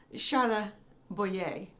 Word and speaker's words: Charles Boyer: i mispronounced a word the actor's name is charles boye he's french and if you want to be really correct charla boye back to the video